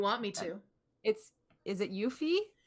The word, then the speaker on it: Yuffie: Is it Yuffie? Yuffie's the way I've always pronounced her name, yeah.